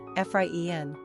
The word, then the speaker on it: Efraín: Pronunciation, Efraín.